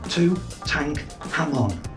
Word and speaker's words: Tutankhamun: And I think you'll find it's pronounced Tutankhamun.